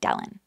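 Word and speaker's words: Dellen: smidge like with ch and Dylan is not Dylan it's d-e-l-l-e-n like Dylan I feel like I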